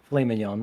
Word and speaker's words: filet mignon: Oh no, don't filet mignon.